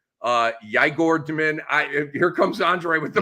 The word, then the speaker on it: Igor Demin: Your boy Demon or whatever his name is, Igor Demin. Yigor Demin. Here comes Andre with the pronunciation, but the top 10 pick that Brooklyn had.